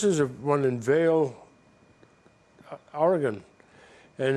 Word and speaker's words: Oregon: chided for our English I've always called it Oregon but it's Oregon it's like it's GU and when they pronounce